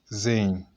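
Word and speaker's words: زاي: This 11th one, we pronounce it Zain. So when I'm pronouncing, this is the English transliteration, Zain. That is it, Zain. If you repeat it again, Zain, it will be softened in your mouth.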